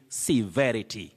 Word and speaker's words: severity: Just like we have the word severe, which is also an adjective. Don't say severity, severity. You say severity.